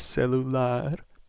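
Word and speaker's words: celular: That ends with R. R was not included in rule number one. That means that our stress is going to be on the last syllable. So, the word is cellular.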